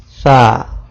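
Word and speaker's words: ث: If you touch tip of tongue with edge of upper front teeth, you can pronounce letter Sa. You can read after me. Sa.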